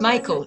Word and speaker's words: Michael: Alors, bonsoir, mon prénom est Michael en fait, ça se prononce Michael, excusez-moi.